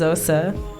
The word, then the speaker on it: Xhosa: probably pronouncing it wrong but my name is pronounced OSA and that is the origin it's just actually